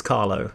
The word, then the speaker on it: Carlo: yeah and I apologize I believe I just pronounced his name Carlos it's Carlo sorry I've never seen I